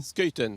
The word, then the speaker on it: Schuiten: Vous prononcez comment, vous? Scheuten. Voilà, Scheuten, donc à la À la flamande. néerlandaise, oui.